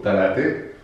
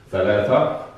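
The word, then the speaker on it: ثلاثة: Per esempio, a Gerusalemme, io dico talate, dico l'aziz e dohor. Bene, quindi sono sostituite o da ta, da zla oppure da sa, za e la, la. Bene, naturalmente in un buon arabo bisogna pronunciare, quindi thalatha, ladiz, zohr.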